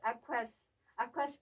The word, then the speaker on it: 아쿠아스: 아랍의 꽃 아쿠아스 김정환입니다. 아쿠아스는 2016년에 아랍에미레이트 알라이언에서 결성된 여성단체이고요. 네. 아랍 코리안 위민 소사이티 영어 약자인 AKWS를 아랍식으로 발음한 것이 아쿠아스예요.